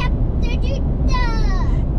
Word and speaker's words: Kata Tjuta: We're heading to Kata Tjuta. Great pronunciation.